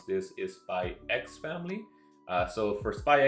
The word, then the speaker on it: Spy x Family: I believe the official name, the official way to pronounce this is Spy X Family.